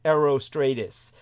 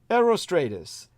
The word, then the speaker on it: Herostratus: it comes to uh herostratus whose very name is spelled like hero h e r o but in the ancient Greek you don't pronounce the h uh it's Aero Stratus uh but Stratus almost